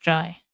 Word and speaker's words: trie: Burglar has it that the term comes from retrieval and should be pronounced dry. Contrast to tree.